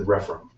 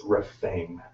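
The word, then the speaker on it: Rephaim: looked at it before ref and I am pronouncing it wrong I said refm it's reame r e p h a i m this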